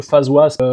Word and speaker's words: FazWaz: Comme je vous disais, j'utilise un peu face was. Donc ça s'écrit comme ça se prononce.